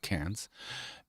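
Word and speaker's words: Cairns: So that's the eastern coast above Sydney above cans or people pronounce it KS c a i r ns but they pronounce it cans.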